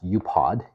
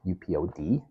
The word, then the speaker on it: UPOD: acronyms you know it's a expression I pronounce upod upod which stands for under